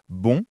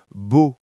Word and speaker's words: bon: Et parfois quand j'essaie de dire bon, ça sort comme beau.